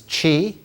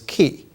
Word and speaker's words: qi: the old pronunciation was Chi uh the correct pronunciation today is key qi it is the